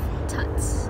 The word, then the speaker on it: Tut's: I absolutely love Tuts. I think it's Tut, not Tut. So apologies, said it wrong earlier.